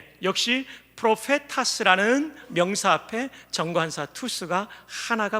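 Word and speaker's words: προφήτας: 투스, 프로페타스. 역시 프로페타스라는 명사 앞에 정관사 투스가 하나가 붙어 있습니다.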